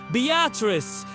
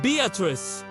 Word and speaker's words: Beatrice: And yes, it's pronounced Beatrice, not like the name Beatrice. Locals will correct you immediately and enjoy doing it.